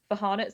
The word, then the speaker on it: Farhana: I'm really sorry, but my name's actually pronounced Farhana.